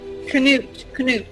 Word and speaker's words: Cnut: He's got Canute. oh, Canute. How do you even spell that? think canoe with a nut.